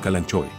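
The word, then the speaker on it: Kalanchoe: Por ejemplo, el calanque Daigre montiana, que usualmente pronunciamos como calanchoe.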